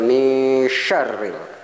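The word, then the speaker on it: من شر: Ya, ini nun mati berhadapan dengan huruf sya. Ini fa bacanya, bukan min tapi mil. Nah, fa ini bacanya dengan mil, bukan min syari tapi mil syari. Mil ini ingat, ini juga sya, bukan sin, bukan min syari tapi min syari. Mil syari ini ada tahzid sehingga dibacanya mi syarril.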